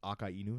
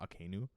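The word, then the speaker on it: Akainu: sorry I just realized I've been saying okay news name wrong like it's AKA Inu not akinu because it's akka as in red and inuming dog because he's a red dog and I've been just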